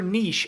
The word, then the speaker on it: niche: niche but I think I think both is correct but I've heard it both ways yeah which is a reference see how see how go Husky's woo pronounces it that'll get the tiebreaker it's uh how could I put that in a poll just emphasize knee like n e e n e e s h versus n-i-t-c-h yeah maybe huh you